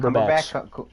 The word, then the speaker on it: Cumberbatch: Cumberbatch.